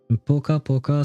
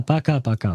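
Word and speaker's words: пока-пока: Ah, paka paka, sorry. That's how you pronounce it. I just read what was written underneath, and to me it read like poka poka, but no, it's paka paka.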